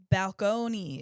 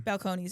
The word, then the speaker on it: Balcones: So we are gonna be drinking something from Balcones.